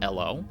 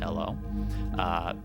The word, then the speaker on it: Elw: And I only recently learned that it's actually pronounced Elo. ELW in this game is pronounced Elo.